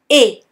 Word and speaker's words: et: As you can hear there, or not actually, the T at the end of E is silent. Repeat after me. Et.